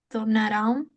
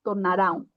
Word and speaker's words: tornaram: Sí, a maioria dos sonombres se tornaram conhecidos no Brasil devido à chegada dos imigrantes. Uhum. Só aqui, tornaram, não temos um acento. Então, só você vai ler como é a palavra. Tornaram, tá? Não tornarão.